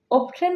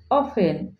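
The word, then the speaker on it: often: ওপেন অর্থ প্রায় কিন্তু এই ওয়ার্ডটিকে আমরা সাধারণত অফটেন বলে উচ্চারণ করে থাকি। ও এফটিই এন কিন্তু এর কারেক্ট প্রনাসিয়েশন হবে অফেন।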